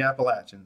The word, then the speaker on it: Appalachian: South and the Appalachian and yes northerners and Westerners they're pronounced the Appalachian and the differences in